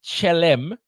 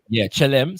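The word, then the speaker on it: Kyélem: You're on mute, brother leader, but I believe that the KY if it's consistent with other African languages in the region, would be pronounced with a ch sound. Chi, yeah. Chelem.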